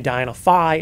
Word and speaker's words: Diana Phi: and there's a dynaphi this one will say dienophi and the phi is spelled out so for the most part yeah there's only been one diana phi so yeah yeah that